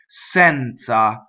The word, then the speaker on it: senza: right next sense ah now Z is at easier DZ depending on the word this is at easy the open the first E is open Senza now we have the